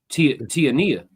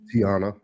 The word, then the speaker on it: Tiana: Or no. Tiania. Is it Tiania? Tiana. She broke that plug, yeah. The I is silent.